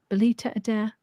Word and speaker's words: Belita Adair: Belita Adair? Is that a correct pronunciation?